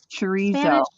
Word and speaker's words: chorizo: It'd be CRO. Oh, the Spanish chorizo.